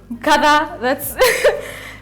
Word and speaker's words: Nkatha: I'm also mispronouncing it because yangu it's sounding a bit bougie. Inafaa kusound Nkatha hivyo. Bougie? Nkatha, that's my name.